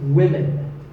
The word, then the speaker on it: women: learners of English is women. This is, of course, because of the English language's crazy spelling system. But remember that we say woman for one woman and women for the plural. Women.